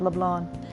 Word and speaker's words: Leblanc: I always pronounce it LeBlanc and I felt so stupid, but it's LeBlanc.